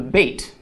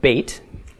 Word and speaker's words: bet: is called a doggish in some Hebrew letters it will change the way the letter is pronounced so in the case of bait if it has a doggish it is pronounced as we would pronounce the English letter B but as in boy if it does not have a doggish it'll be pronounced as a V okay so with the doggish is be without a doggish is v okay the numerical value of